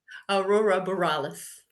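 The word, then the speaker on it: aurora borealis: What do you how do you pronounce it? Aurora Borales.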